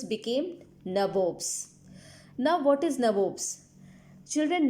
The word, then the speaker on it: nabob: Children, nabobs is the anglicized version of nawab. Okay, anglicized version of nawab. As we know, the pronunciation or accent of Britisher was different from Indians. So instead of saying nawabs, they said nabobs.